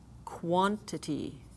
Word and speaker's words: quantity: example with q u quantity quad again the qu and the W makes the a sound more like a short o ah